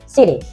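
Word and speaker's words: city: Jadi tidak diucapkan citi atau kiti tapi siri.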